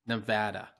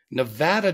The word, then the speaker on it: Nevada: Ty rhymes with ice and it's Nevada that's very nice It's Neva Nevada Nevada does not rhyme with ice no it does not for you nevadans out